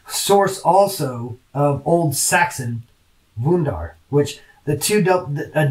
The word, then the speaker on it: wundar: So Old Saxon wundar, W-U-N-D-A-R, which that it'd be pronounced wundar, wundar.